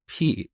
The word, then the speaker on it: pi: instead of Pi but that's how we learned this back in Iran we we pronounce it as p and I think Greek